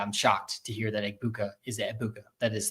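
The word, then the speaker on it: Egbuka: But um I mean that I I love that you have Tez to back up Ibuka here. I didn't realize you don't pronounce the G, by the way.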